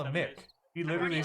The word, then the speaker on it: Mick: He told me to call him Mick. He literally said, because I was like, "Is it Miki?" Because it's Meke. Yeah, And he's like, and somebody else said it's pronounced Mick, M-I-C-K.